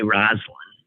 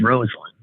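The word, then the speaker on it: Rosalynn: First Lady, there were so many people who did not know how to pronounce her name. They'd say Rosalind, which is the more, I suppose, what more women who have that name, even if it's spelled slightly different, would say, but it was Rosalind.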